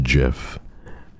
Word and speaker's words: GIF: was a biased pull if you pronounce the letters they're literally j i f g g j i f it's pronounced Jiff and I won't have